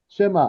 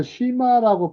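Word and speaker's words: שמע: 그래서 쉐마 혹은 발음은 쉬마라고 발음하는 게 맞습니다.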